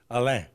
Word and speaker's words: Allain: Yeah, everybody just, I heard it pronounced so many different ways until I just learned how to say Allain. Yeah. You know, That's the French pronunciation. So there you go.